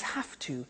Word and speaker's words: have to: computer at work now did you hear my pronunciation I have to notice I don't say V I say F have have it becomes have to have to becomes in pronunciation have to have to okay so